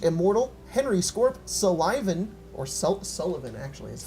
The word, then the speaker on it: Sullivan: Negra 101, Agent Immortal, Henry Scorp, Sullivan, or Sullivan actually is how it's pronounced.